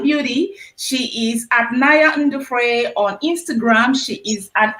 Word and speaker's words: Ndefru: The pronunciation is Ndefru.